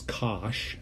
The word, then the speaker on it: cosh: you probably saw in calculus 2 hyperbolic cosine pronounce cosh of a t is is e to the